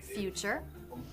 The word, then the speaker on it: future: It can be pronounced CH, ch, as in the word future.